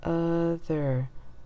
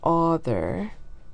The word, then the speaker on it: other: and this o here it's not author it's other it's that fourth sound